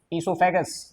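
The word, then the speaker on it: oesophagus: है ये ध्यान रखना इसको हम बोलते हैं इससोफेगस स्पेलिंग ओ से स्टार्ट है इसकी वरना गलत बता दूं ये हो गया हमारा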